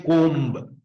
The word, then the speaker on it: comb: And comb, C-O-M-B. Last letter B, we'll have to say comb, but B is silent, we should say comb.